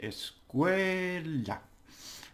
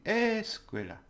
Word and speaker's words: escuela: Now if I put the stress on the es, it will be escuela, and that sounds different to my ears, and it will to any Spanish.